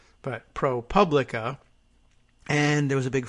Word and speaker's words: ProPublica: the organization tweeting jokingly about how it's not pronounced propably but ProPublica and there was a big fight about it